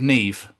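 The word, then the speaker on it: Niamh: because he spoke to somebody called Neeve okay and you know how that's spelled right yes n i a MH yes hello Neeve do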